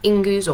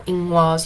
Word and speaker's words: Ingwaz: Meg, you have Ingus or Ingwaz. You can pronounce that one either way.